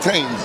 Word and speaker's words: Thames: Right you do pronounce that Thames. Thames, yeah, that's the way Okay, and this center here is 1100 East Fayette Street.